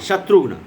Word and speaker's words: শত্রুঘ্ন: শত্রুঘ্ন, এটা তো আগেও উচ্চারণ করে দিয়েছি আমি, তালবস্য ত্রয় হর্ষও আধা ঘ ন, শত্রুঘ্ন।